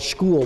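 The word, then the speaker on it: Skhul: a series of deposits it's called school which spelled like the word skull and they actually have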